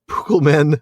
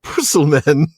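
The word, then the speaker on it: Púkel-men: That's because in modern English, of course, C is typically soft, pronounced like the S, before front vowels like E or I. Tolkien apparently wanted to make sure his readers pronounced it Pukelmen, not Pusselmen.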